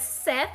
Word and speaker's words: Seth: spelled SE in like some people will say Seth some people say set it depends on like before I started